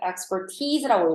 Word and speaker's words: expertise: The beneficial effects of familiar structural memory have been observed for many types of expertise라고 읽어야 되고 이 단어는 리스닝에 나옵니다. expertise가 아니라 expertise.